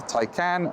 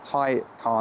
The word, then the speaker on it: Taycan: So this is the Porsche Taycan, not the Taycan, not the Toucan, nothing like that, Taycan.